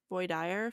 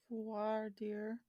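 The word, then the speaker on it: voir dire: this is and I'm going to say it wrong cuz it's a French word the void deer D void dire phase took almost a year v o i r d i r e v dear no I have no idea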